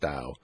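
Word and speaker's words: Tao: the dial of Poker ta o pronounced Dow by Larry Phillips a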